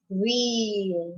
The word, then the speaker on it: wheel: Because when you say the word wheel, you cannot hear the H sound, right?